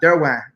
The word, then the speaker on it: Derouen: The proper way to say my name is Derouen, which is like French pronunciation.